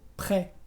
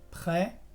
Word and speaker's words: près: Sí, por ejemplo, en las palabras très, que es muy, o près, que es cerca. Como lo ves, la S es muda y yo pronuncio près, très.